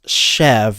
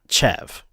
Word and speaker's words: Chev: The ch is an sh sound, so it's chev, not chev.